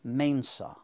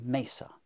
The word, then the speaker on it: mensa: But even in the 4th century, people were saying mesa. They're being lazy. They're being lazy.